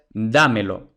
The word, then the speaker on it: dámelo: pronombre más ahora es dámelo Entonces ahora como la sílaba acentuada es la antepenúltima entonces esdrújula y ya hemos dicho que las esdrújulas se acentúan ortográficamente siempre por tanto le ponemos